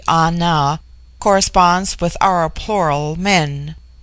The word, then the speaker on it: Ana: The word Ana, pronounced broadly Ana, corresponds with our plural men.